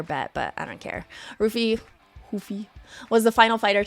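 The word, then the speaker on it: Ruffy: King green and Mauricio UI look I've been pronouncing his name Mauricio UI Hui since like he entered the UFC but because I heard his name pronounced ruy this whole week I just like don't even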